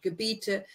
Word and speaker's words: Gebiete: Remember, IE is the E sound, Gebiete in wärmeren Ländern auf.